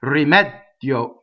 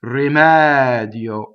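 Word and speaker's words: rimedio: So here we have a stressed E that is open, right? And then a semi-vowel before the O, rimɛdio, and a single D, right? You don't want to say rimɛdio. You don't want to double that D.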